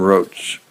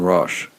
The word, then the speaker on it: Roche: Simon Roach. If I'm pronouncing that right. Oh, Roche. Simon Roche. But it's spelled Roche.